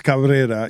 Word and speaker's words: Cabrera: Cabrera she's a Cabrera yes it's Cabrera you have to uh roll the B do you uh do